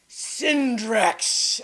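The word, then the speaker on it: Cindrix: It's with a C. Sin and an X. Not CK, but yes. C-I-N, like cinder. Well, that makes sense.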